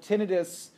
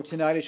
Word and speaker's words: tinnitus: it can be although tinnitus or tonight as you'll hear pronounced both ways is a different issue